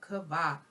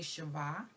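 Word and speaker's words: Chava: the sacred writings of Kava. Okay. Oh, and there's a correction. Because of my dialect, sometimes I say Shiva, but the correct pronunciation would be Kaf, Vav, Vav, Hey, which is actually Kava.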